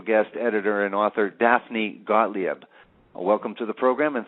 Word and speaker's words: Gottlieb: your last name properly it's gottlieb you were really close okay great thank you